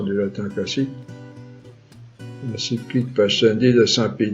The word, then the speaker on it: Pascendi: Pascendi, c'est-à-dire P-A-S-C-E-N-D-I, ou Pascendi, si vous voulez, avec la prononciation du latin classique. L'encyclique Pascendi de Saint Pie X et dans celle de Pie XII, Humani Generis.